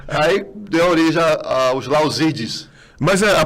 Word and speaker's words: Lauzid: E conheceu uma brasileira, largou a batina, casou e aí deu origem aos Lauzides. Mas a pronúncia é essa mesmo, Lauzide? Lauzide. Lauzide. A-U em francês tem um som de E.